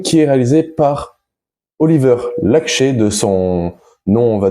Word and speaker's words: Laxe: Après, il me semble qu'en français ça se dit Oliver Lax, mais voilà, j'ai entendu les deux versions, donc on va l'appeler Oliver Laxché. On va essayer de respecter sa langue, enfin son nom, comment il est prononcé dans son pays.